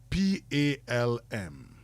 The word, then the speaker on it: palm: bit of revision um P A L M P A L M okay palm the L is silent it's not pronounced in every instance